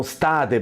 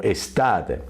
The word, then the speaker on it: estate: Yo paradójicamente tengo estudiantes que están tan asustados que también estate te la pronuncian como state por miedo. No, estate la tiene y se puede pronunciar como estate, ¿no?